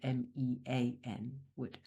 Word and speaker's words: Menewood: I pronounce it Menewood after the actual neighborhood where I grew up, which is called Menewood, Mean Wood.